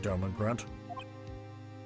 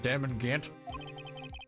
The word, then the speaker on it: Damon Gant: Oh, I'm sorry, too, Don Grant. I said his name wrong. Damon Gant.